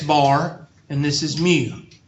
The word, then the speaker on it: mu: That would be a statistic, lowercase, which would mean this is X bar and this is mu. Mu is pronounced M-E-U.